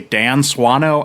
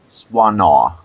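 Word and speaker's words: Swanö: And I got to ask you, is that how you pronounce his name? Because I've heard it, you know, I've heard people say Dan Swano, I've heard Dan Swana because it's Swedish.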